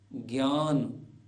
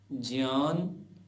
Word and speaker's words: ज्ञान: गया ज जैसे आज्य सामान्यतः लोग बोलते हैं आज्ञा यज्ञ ज्ञान जबक ठीक ठीक उच्चारण होगा आज्ञ यज्ञ ज्ञान विज्ञान ऐसे ही अन्य उदाहरण